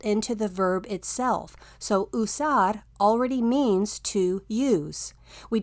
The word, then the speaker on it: usar: The letter U makes the oo sound like usar.